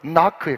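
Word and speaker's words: knock: 에스크고요 두드리라 노크에요 여러분 제가 방금 발음을 나크라고 하고 싶었는데 나가고 싶었는데 우리 새로 보이면 조수빈 목사님이 어디 갔다가 오는데 어떤 분한테 어떤 분이 돼서 좀 부정적인 이야기하면서 그분은 그냥 그냥 아나운서도 녹화하는데 녹화하면 될 건데 왜 꼭 설교 시간에 너무 듣기 싫더라고 그 말을 해가지고 제가 깜짝 놀라가지고 노크라고 했어요 근데 여러분 오리지널 발음은 나크에 가까워요 자 여러분 한번 더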